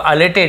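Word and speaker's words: elated: the merchant was अलेटेड, the merchant व्यापारी वॉज यानी था अलेटेड, लिखा ई है, उच्चारण अ होगा, अलेटेड इसका अंदर उत्तेजित, उत्साहित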